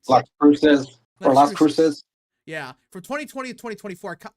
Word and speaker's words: Las Cruces: New Mexico's red wall is getting strong with R plus shift at Albuquerque and Las Cruz. Is that how you say it? Las Cruces.